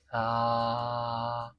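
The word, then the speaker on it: ث: এরপরে আমাদের যে হরফটা একটু একটু ভিন্ন স্টাইলে উচ্চারণ করতে হয় সেটা হলো সা। এটা হলো কি? সা। সা। সা। দেখেন এই যে সা যে স্থান থেকে উচ্চারিত হবে সেই সেখান থেকে আরো দুইটা হরফ উচ্চারিত হয়।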